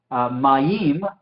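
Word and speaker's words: מַיִם: Pero en este caso, como la patah, yod y la hirek funcionan como una unidad, entonces mayim es una sílaba, ¿sí? No 2, es una, porque es un diptongo que se pronuncia y funciona juntos.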